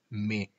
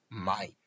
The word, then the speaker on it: mai: En el mes de mayo, como veis, donde dice mai, cuidado porque el diptongo ai en francés se pronuncia e. Por lo tanto, es imprescindible pronunciar me.